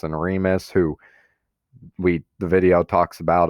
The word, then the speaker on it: Remus: So that's how you pronounce that name. And then there's Romulus and Remus, who the video talks about as well as the reading.